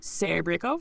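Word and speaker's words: Серебренников: Soften the S and R at the start, stress on the syllable. Roughly, Serebrennikov with Kov as cough.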